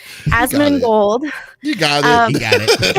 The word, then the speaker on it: Asmongold: Asmongold.